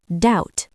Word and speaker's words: doubt: knife knee knock Silent B after M or before T. Comb, not combed. thumb doubt debt Silent W before R.